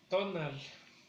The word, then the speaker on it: tonal: Tonal, tonal. Lleva acento en la primera sílaba.